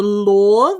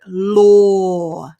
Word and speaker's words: law: for you lore so it's just like the word or o or and we put an l in front of it law law well done very